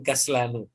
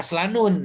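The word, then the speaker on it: كسلانُ: Ini ada pengecualian beberapa kata sifat yang tidak ditanwin ya. Yang istilahnya sama dengan yang kemarin, Amerika, Inkaltero, Amerika, Faransa, ya itu mabni. Jadi kaslan. Jadi tidak kaslanun ya. Kaslanu. Ya, kaslanun. Cirinya apa? Cirinya adalah sebelum huruf akhir ada mad di situ ya.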